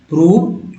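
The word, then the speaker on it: prove: इसको पढ़ेंगे सम, शम, एबा, अबाउट, प्रूव, टोन।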